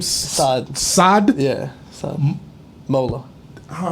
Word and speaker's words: Saad: You pronounce your name Saad.